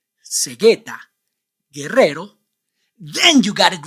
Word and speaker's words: guerrero: You don't pronounce the vowel U in all these words because the vowel U is after the consonants G, Q, and before the vowels E, I.